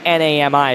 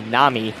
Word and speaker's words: NAMI: said the other day it's actually not Nai as I pronounced it in the last game it's actually Nami what is that National